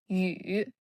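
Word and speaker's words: 羽: This character is yǔ. Yǔ. Third tone.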